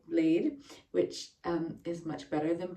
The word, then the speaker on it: Bled: Most of my time was spent in what the Americans would say is bled, but I now know it's pronounced more like blade, which is much better than bled.